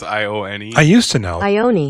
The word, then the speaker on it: Ione: I don't know how do you pronounce it. It's Ione.